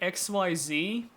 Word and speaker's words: Xyz: There's someone out there who still instead of exceed says uh who still pronounces exceeds as uh exceeded. And I can I can get pronouncing it XYZ.